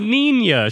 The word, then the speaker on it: Nina: It's Nina. She's Swedish. Oh, whatever. It's just Greta. It's spelled ninja, though.